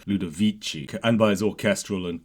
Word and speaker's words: Ludovici: the classical tradition as evidenced by the Soft C in the first word lud vichi and by his orchestral